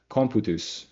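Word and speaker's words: computus: date they actually use comput which is like it's spelled like amputous.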